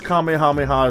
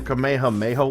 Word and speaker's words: Kamehameha: it was easy right yeah right five syllables these guys are outright mispronouncing it in ways I never thought possible like it's one thing if you say the kamehamejo wave they they said it that way in a couple dubs whatever but this is